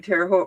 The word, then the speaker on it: Terre Haute: I think when I went to the one in Terre Haute Rhymes with Both, they gave us all a little baggie that had like 3 or 4 in it.